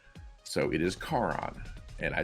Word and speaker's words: Charon: in the world, because the CH in Italian is pronounced with a K, so it is Charon.